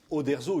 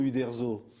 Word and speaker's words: Uderzo: déformation de parce que le U se prononce ou en italien alors de ou à O il y a il y a une petite différence on ne sait pas